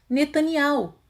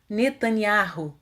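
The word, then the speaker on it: Netanyahu: pronunciam e e rodar o mesmo ocorre com o nome netanya rúa o cerro de o pronuncio da seguinte forma netanyhau enquanto que os ocidentais pronuncio netanya ru falaremos agora a respeito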